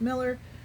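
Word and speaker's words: Muller: We're down to the last last suspect, Paul Miller. And the spelling of his last name is M U L L E R, but it is pronounced Miller.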